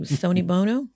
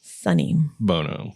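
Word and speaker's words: Sonny Bono: babe what are you Sony Bono Sony Bono so I can't even say it right now it's sunny sunny Bono Bono yeah apparently just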